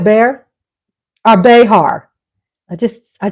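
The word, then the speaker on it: Bexar: you they want something how do you pronounce bear it's b e x a r is that bear like like bear my likes are going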